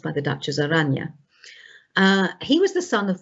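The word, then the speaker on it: Oranje: william frederick of aragne spelt as orange but pronounced by the duchess aranya he was the son of the last head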